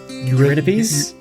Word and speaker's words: Eurydice: And I always pronounce her name wrong. I think it's Oh, don't crucify me, internet. You're Eurydice?